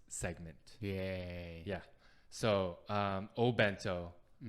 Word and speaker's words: obento: so um oh bento i see it written as oh bento but like when talking to people on the street i don't hear people say oh bento they just say bento uh it's small bright way to say okay so i think uh more female says opento okay but guys say bento but there's like many many words with o in front of it it's just like the